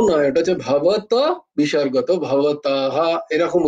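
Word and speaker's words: ভবতঃ: মানে তিনি বলছিলেন সেইভাবে আমি বলেছিলাম তো এটাও ভবতাহাও নয় এটা হচ্ছে ভবত বিসর্গত ভবতাহ এরকম উচ্চারণ হয় তো আমরা যদি কোন পুরুষকে বলি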